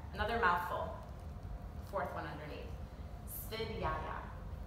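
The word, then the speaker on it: Svadhyaya: Svidyaya is the pronunciation, and it means the study of oneself.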